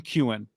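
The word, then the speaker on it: Keown: Tim Kewen, thank you, is the pronunciation.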